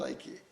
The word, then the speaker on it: Ike: It's complicated by the fact that many people who have not met me instinctively go for Ike, which is the name, but actually, as a child, I was called Ike. Okay. To rhyme with Nike.